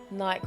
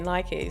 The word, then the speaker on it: Nike: Yeah, because you don't say bikey, do you? Like, I'm gonna go ride my bikey. But who knows, man? Like, I don't even know. Is there a definitive answer? I mean, Americans say Nike, so. Yeah, but do you know what? I grew up saying Nike, and then went to school and everyone said Nike.